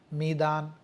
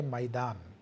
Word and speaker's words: میدان: پہ لفظ میدان آیا، تو میدان اس کے 2 تلفظ ہیں، میم کی زیر کے ساتھ بھی ہے میدان، اور میم کے زبر کے ساتھ بھی ہے میدان۔ تو یعنی میدان عام